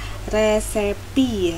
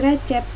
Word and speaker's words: recipe: resepi atau resep makanan jadi bacanya resepi ya bukan recipe apalagi recep bacanya resepi Oke let's continue to